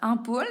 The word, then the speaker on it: ampoule: Donc, ampoule, normalement, j'entends le son A. Ici, il s'écrit A-N.